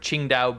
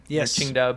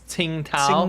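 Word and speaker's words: Tsingtao: This is kind of near if you guys have heard of Ching Dao beer. Chingdow beer if you go to a Chinese restaurant. It's you might pronounce it as Tingo.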